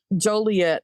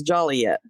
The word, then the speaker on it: Joliet: it because I'm going to say it wrong Joliet as Joliet oh well I guess they got sick of people mispronouncing yeah um in Kennelworth a rooster Must